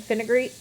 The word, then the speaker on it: fenugreek: Blessed Thistle and fenugreek? The one that the Amazon one? The supplement. Yeah, it's like, milk thistle. Blessed Thistle, fenugreek, fenugreek.